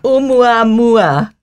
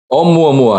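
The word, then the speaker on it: ʻOumuamua: Waldman over here and tell us, how do you pronounce this Hawaiian name? Oumuamua? Oumuamua. Oumuamua, yes.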